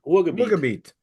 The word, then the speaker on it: Ruhrgebiet: He's now living in how do we pronounce Ruhrgebiet? Ruhrgebiet, Yeah.